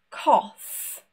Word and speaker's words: cough: For example, laugh, cough, enough. We have completely changed this sound. It's not a G, it's not an H, no silent letters. Just a completely new sound.